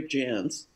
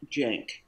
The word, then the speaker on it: Jance: and bought a vowel we paid 400 bucks for that e on the end of our name 83 so people would